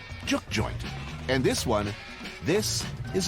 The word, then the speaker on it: juke joint: I guess the first thing you got to know is it's pronounced juke joint.